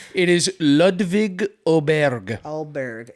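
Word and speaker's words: Ludvig Åberg: Yeah, but I just decided to spice things up with Adverb, the the Swedish guy.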